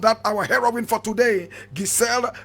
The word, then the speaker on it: Gisèle: Now Gisèle Rabesahala, full name Marie Gisèle Aimée Rabesahala. Marie Gisèle Aimée Rabesahala. Marie is spelled M-A-R-I-E.